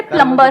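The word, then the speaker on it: plumber: सर जैसे प्लम्बर, करते हैं। सब लोग प्लम्बर बोलते हैं हमारे देश में, बढ़िया है यार, क्या दिक्कत है? बी साइलेंट तो है उसमें प्लम्बर ही भी।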